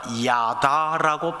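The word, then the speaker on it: ידע: 제가 발음 그대로 하면은 히브리어 단어 야다라고 발음되는 단어입니다.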